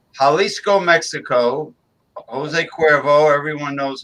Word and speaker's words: Jalisco: Jalisco Mexico I believe I don't think they pronounce it Jolly scope right right Jalisco Mexico Jose Cuervo everyone